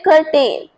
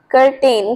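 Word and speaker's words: curtain: बट इसके सही pronunciation है कर्टन। कर्टन। इसमें आर का साउंड बहुत लाइट आएगा। मतलब ऐसे लगता है जैसे आर हम इसमें प्रोनाउंस ही नहीं कर रहे। सो you should say it Karan. कर्टन ऐसे बोलना है।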